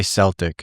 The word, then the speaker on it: Celtic: of Scotsmen and Irish, they'll say Celtic. So I'm not really sure, if that's like a Norman tweak. They're just used to the Norman way of pronouncing that, because prior, a long time ago, the C functioned like a G and a K. So it was more Celtic or Celtic.